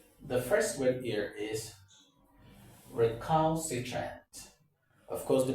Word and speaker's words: recalcitrant: obeying instructions, you say, oh, that individual is recalcitrant.